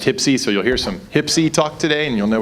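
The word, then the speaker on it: HPSCI: on Intelligence the acronym for which is usually pronounced tipsy so you'll hear some hypsi talk today and you'll know what it is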